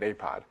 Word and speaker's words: APOD: Astronomy Picture of the Day is abbreviated APOD and pronounced APOD. There shouldn't be a T in there, but it sounds strange if you try to pronounce the T in Astronomy Picture of the Day.